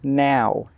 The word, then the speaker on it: know: between know, K-N-O-W, and now, N-O-W? So let's look at the pronunciation first. K-N-O-W is pronounced no. No. The K is silent and the W is silent.